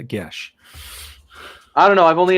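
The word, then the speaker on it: geas: you mean you're Celtic how can you not pronounce it a gesh I don't know I've only ever heard it pronounced as GEOS so because I've only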